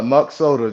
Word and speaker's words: Muk Soda: Um, Muk Soda, tell Am I pronouncing it right? Yes, sir. Muk Soda. Just like the muk and then you add soda on the end from Minnesota.